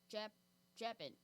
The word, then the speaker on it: Chapin: So it's like Clifford like the dog? Yes. See, and I couldn't even spell that right. What's his last name? Chapin. Chapin?